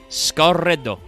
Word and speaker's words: Scar Red: Now, for some reason, the wiki calls out, because even though it's pronounced Scarredo, this has a hyphen in the translation. Scar Red Cocoon, not Scarred Cocoon.